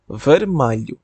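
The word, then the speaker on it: vermelho: আছে লাল রং লাল রংকে আমরা বলবো মাইলু ভেরমাই ভেরমাই তারপর নীল নীল হচ্ছে আজু আযু আজু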